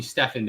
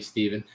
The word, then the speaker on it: Steven: steven spelled like me i bet you get a lot of people calling you stefan don't you it's an annoying part of having your name stephen like just like me my name is steven by the way spelled exactly like that and i get called stefan way too much and then like when